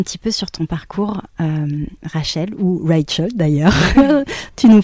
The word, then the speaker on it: Raechel: Donc, c'est pour ça que ma mère, d'ailleurs, a écrit mon prénom ainsi, à la base, pour que les Français le prononcent Rachel.